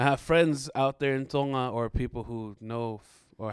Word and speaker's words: Tonga: know the way americans okay so yeah proper pronunciation is tonga but out here they call it tonga that's right tonga like you have a togo or whatever but